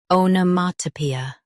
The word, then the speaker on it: onomatopoeia: Onomatopoeia. US starts with ah. UK starts with o.